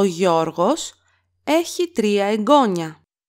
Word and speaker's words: εγγόνι: Here we have the noun εγγόνι with a iota and an accent on the second syllable from the last.